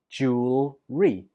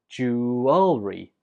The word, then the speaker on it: jewelry: I pronounce this word with just 2 syllables. Jewelry. Jewelry. But other people pronounce it with 3 syllables. Jewelry. Jewelry. Both are fine, so you choose whichever one's easiest for you. But it's important to know that you put the stress on the first syllable.